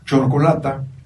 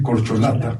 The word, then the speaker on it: corcholata: lugar de decir dentífrico decimos hoy que están de moda Chocolata en lugar de decir corcholata claro decimos polvadera en